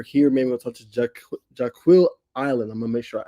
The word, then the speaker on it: Jaquille: Jaquille. Jaquille. Like Okay. Jaquille, like Shaquille. Yep. But with a J.